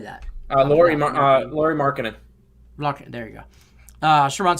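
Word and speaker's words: Lauri Markkanen: Laurie Markkinen.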